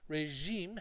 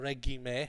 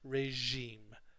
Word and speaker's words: regime: and going for a swim every second evening that's a regime regime has a strange pronunciation it's not a reg I'm a has a lot of students say it's regime regime regime so that's often